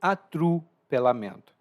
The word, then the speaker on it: atropelamento: E perceba que minha pronúncia é um pouco mais relaxada. Eu não falo atropelamento, mas sim atrupelamento. E você vai ver isso com muitas palavras em português. Se a pronúncia é relaxada, a vogal tende a mudar.